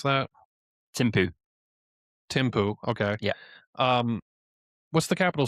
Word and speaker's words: Thimphu: But as far as the capital, and I'm trying to, how do you pronounce that? Thimphu. Thimphu.